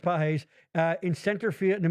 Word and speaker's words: Pages: But if Roberts doesn't sub Pages, yes, it's pronounced Pages, in center field in the middle of the 10th, the Blue Jays are having a parade.